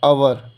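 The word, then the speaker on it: hour: ठीक है, तो और इसमें एच साइलेंट है तो ओ का जो है उच्चारण जो है यानी यहाँ प्रोनाउंसिएशन ए है, आवर।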